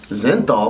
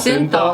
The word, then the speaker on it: synthol: Zenthal? What the fuck is Zenthal? Synthol? How do you say it? Synthol. Oh, synthol. He did say synthol.